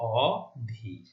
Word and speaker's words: অধীর: কারণ এটি হচ্ছে একটি উপসর্গ এবং না বোধক অ উপসর্গ, সেই জন্য এই উচ্চারণ হচ্ছে অধীর। অধীর হলে ভুল হবে, এখানে অধীর উচ্চারণ করতে হবে।